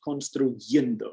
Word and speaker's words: construyendo: This one's a little irregular in the progressive. Construyendo. You have to put that Y in there instead of an I.